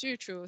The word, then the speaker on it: Yuchu: uh my name is youtube so just to get out of the way it pronounces as youtube minus the be i'm industrial phd students